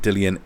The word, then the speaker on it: Dillian: So BOP Boxing Observer Podcast, I remember yelling at Dillian, is it Dillian or Dylan? Yeah, I hear a lot of people saying it Dylan White, but I've heard him say Dillian, but yeah.